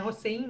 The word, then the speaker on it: Hossein: Eu li em um texto da Ziba Mir Hossein, é assim que se pronuncia? É Hossein, né?